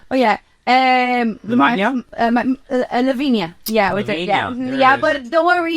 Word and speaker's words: Lavinia: Lavinia.